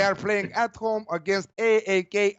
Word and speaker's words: AEK: playing at home against AEK Athens or Ike Athens how the Greek the Greeks are saying interesting match both were